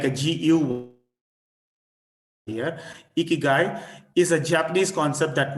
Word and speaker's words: ikigai: in recent times is a japanese concept called ikigai ikigai okay it's pronounced as guy like a gu here ikigai is a japanese concept that means a reason